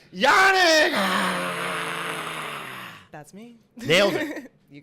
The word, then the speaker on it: Janek: And then Janek, Jan is John in Czech. So it's actually like a very basic name. That's how you say it.